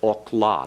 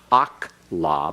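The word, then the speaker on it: אָכְלָה: And so you have to pronounce this as okla, not akla, but okla.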